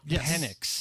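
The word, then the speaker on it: Penix: a couple years ago when we had a penic I think I'm pronouncing that right penex yep um I always text it and it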